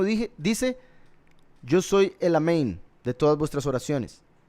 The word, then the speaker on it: amén: caso en el egipcio Amén am quiere decir ciertamente los ashkenazi pronuncian omin por si algo omin Porque cambian algunas vocales de a a o Y ese es el